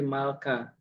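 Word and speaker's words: מלכא: Malaka, malaikat. Nah, kalau ini dibaca bukan malaka. Eh bukan bukan malak tapi malka gitu ya.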